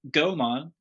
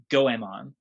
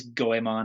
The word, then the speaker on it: Goemon: all right and i guess the first talking point the first disclaimer i should say is gomon the mystical ninja starring gohan gomon is the